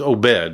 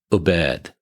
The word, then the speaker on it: Obeid: thanks for inviting me I've been saying it's OED right OED OED yeah okay I mean if you technically want to pronounce it the way that it is pronounced it's aad aad like with on the emphasis on the